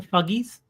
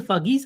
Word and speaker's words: Fugees: I believe it's pronounced the Fuggies.